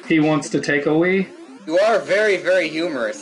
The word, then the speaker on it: Wii: A Wii. Oh, is it a Wii? Yes. Yeah. That's how you pronounce it? W-I-I, yes. I think that is pronounced that's Wii.